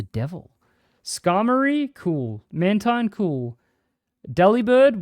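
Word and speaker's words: Delibird: scarry cool mantine cool deli bird which by the way is supposed to be pronounced deliber which I hated because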